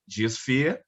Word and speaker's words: GeaSphere: Philip Owen is a founding member of an Environmental Pressure Group GeaSphere. I don't know if I'm saying it right, Philip.